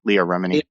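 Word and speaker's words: Leah Remini: according to um to what's her name uh Leia Remeny is that how you pronounce it Leah Leah yeah Leah Remeny said that John Travolta has uh I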